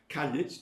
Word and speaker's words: Caillit: Caillit, 2 syllables. Caillit always has 2 syllables in all Manx texts that I've ever seen. So I don't know where the idea of pronouncing it in 1 syllable came from.